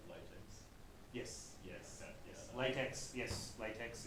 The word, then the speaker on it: LaTeX: But because it's developed by a German guy, the way you pronounce it is using the Latin, and so the X is pronounced as chi from Latin.